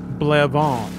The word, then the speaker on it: Blevins: name blevins i know how to pronounce it and it's blevonne to be fair it'd be pretty hard to mispronounce blevins but maybe that is